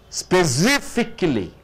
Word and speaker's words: specifically: Now, specifically, what do you mean by specifically? It's an adverb. Any word ending with ly is called adverb. Specifically. SIF, you are stressing on SIF.